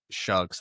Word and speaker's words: Tyler Shuck: I just want to say to that, I don't like Tyler Shuck's last name, how it's spelled and how because it's spelled like Shaw, but it's Shuck.